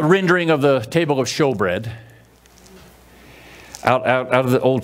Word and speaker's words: shewbread: of the table of show bread out out of the old testament and it's spelled s-h-e-w show bread the bread is called